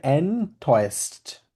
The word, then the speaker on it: enttäuscht: এটা হচ্ছে হাটে এটা হচ্ছে প্রোনাউন্সিয়েশন হবে এনটয়েস্ট, enttäuscht. কারণ ওর উপর উমলাউট আছে না, ওই জন্য এর মধ্যে উচ্চারণ হবে এনটয়েস্ট। এ আর উ মিলে একসাথে হয়ে যাবে, অয়ে হয়ে যাবে, এনটয়েস্ট হয়ে যাবে তখন।